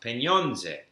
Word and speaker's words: pieniądze: bit in Polish, and I discovered that they have nasal sounds there. So that money, for example, is pronounced pieniądze.